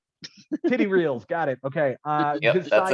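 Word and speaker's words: Tetreault: I mean, how are you pronouncing this thing? Tetrol? Titty reels, got it.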